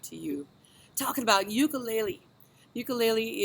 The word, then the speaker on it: ukulele: Ukulele is actually pronounced ukulele.